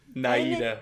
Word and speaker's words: Naida: Naida.